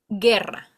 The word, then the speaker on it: guerra: example, guerra, that it's war.